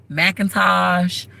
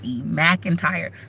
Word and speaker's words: McIntyre: For those of you who like Macintosh, McEntry, nope. My name is McIntyre. McIntyre. McIntyre. That is how you pronounce it.